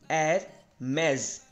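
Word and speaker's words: Hermès: तो next brand की बात करते हैं, वो है एरमेज, राइट, एरमेज।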